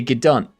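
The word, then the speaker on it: g'dunt: Yes, you're officially a gdant.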